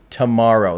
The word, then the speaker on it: TMRO: So there's a YouTube channel and a podcast called Tomorrow, but it's spelled TMRO. Tomorrow.